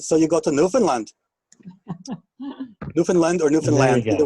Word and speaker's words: Newfoundland: them in uh in newfoundland as well notice i'm pronouncing the land you look at if you look on your screen it should say newfoundland it rhymes with understand so it's newfoundland not